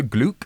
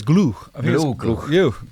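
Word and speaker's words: Gloukh: a discussion about Oscar gluc am I pronouncing that right I think it's glue yes he uh big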